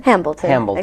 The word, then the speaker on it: Hambleton: I'm your host, Ben Cheever, and today we're extremely fortunate to have, whose last name I'm going to pronounce incorrectly, Hambleton? Hambleton, exactly right.